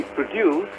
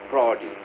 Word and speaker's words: produce: We produce grain, and grain is our produce. See the difference? So the difference is not in spelling, not in pronunciation. The difference is in the accent.